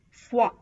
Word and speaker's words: foi: OI is pronounced as wa, wa, as in foi, bois.